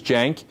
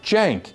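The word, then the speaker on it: Cenk: So, the first name is Jenk. It's spelled C E N K, but the C in Turkish is pronounced like a J. Like Jenk, like short for Jenkins. Okay, Jenk.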